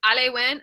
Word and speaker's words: Elaywan: So it's Alewan. I'll spell it ELAYWAN. Looks like Wan.